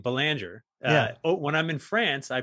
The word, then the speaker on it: Belanger: So the other thing too is, you know, my last name, Belanger, when I'm in France, I pronounce it Belanger because it's as common a name as like Baker is in the US.